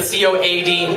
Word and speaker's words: Coady: I love the spells not Co de the Coad because my last name is spelled VM Cody Coad why anyway now you